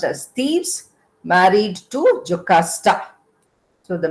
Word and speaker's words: Thebes: It's pronounced as Thebes, married to Jocasta.